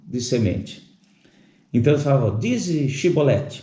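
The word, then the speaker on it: shibboleth: dizer uma porção de semente então falou dizes shiboleth o porém eles diziam cebolete porque não podiam pronunciar bem essa palavra que seria o essa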